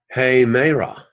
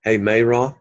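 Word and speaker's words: ἡμέρα: e raining raining raining hey Mara aim a rod did you hear the rough sound hey May raw a may roam they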